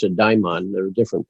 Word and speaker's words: daimon: i talked about how now you and i pronounce it daimon there are different pronunciations but the daimon is